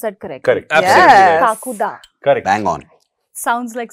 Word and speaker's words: Kakuda: सोनाक्षी आदित्य ो ट talk about काकु ड pronounce that correct काकू the correct Bang on sounds like some Bengali name